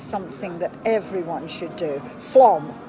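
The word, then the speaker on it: Flåm: Flom, not Flam. For some reason, they pronounce an A as an O.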